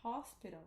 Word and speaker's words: hospital: Porque é ao contrário. O nosso H, no Brasil, a gente não pronuncia, né? Ele é mudo. E aqui, o H, na verdade, é o som do nosso R. É verdade. Entendeu? Então, né, o hospital, que a gente não pronuncia, aqui é hospital.